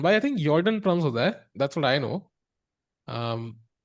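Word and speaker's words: Jorden: Jordan, I think Jordan, that's what I know. Um, yeah, it looks like a J, but it sounds like a Y.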